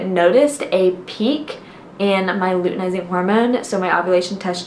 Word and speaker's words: luteinizing: test strip measuring my luminizing I think is how you say it luteinizing hormone that is how I confirmed